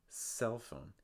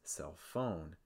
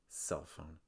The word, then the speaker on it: cell phone: when you're pronouncing these you want to place the stress on the first word so for instance for cell phone cell phone you want to make sure you're stressing settle it's not cell phone it's cell phone let's